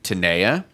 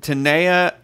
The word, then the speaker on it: Tenaya: questions about the pronunciation I say Taniya could be Tenaya could be those are it why don't we spell it out for the people at home E and a why a so I think that looks like tener Taniya but Morgan how would you say it uh Tenaya i guess okay alright so Tenaya we should have typed